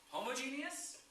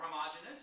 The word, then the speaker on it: homogeneous: We have homogeneous or homogeneous. I've heard it pronounced both ways.